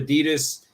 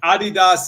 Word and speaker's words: Adidas: and the Germans say the Germans say Adidas too Adidas is the proper German pronunciation yeah but you see